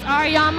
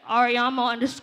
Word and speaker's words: Årämø: Again, my name is Årämø, I'm from the DMV. Y'all can follow me on my social media. It's at Årämø _music_.